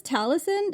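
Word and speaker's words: Talasyn: Is this how you describe your heroine in the hurricane wars, Talison? Am I pronouncing that right? Yes, that's correct. Um, and speaking of names, Talisin's name is it comes from the word tala, which is the Filipino word for star.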